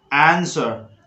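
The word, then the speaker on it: answer: Exception में है W silent तो है, लेकिन यहाँ पर आपका जो है बिगिनर W नहीं है और ना ही W के बाद R आ रहा है, फिर भी यहाँ पे W साइलेंट है। जैसे आपको बोलना है टू आंसर आंसर आंसर, sword sword, word word word.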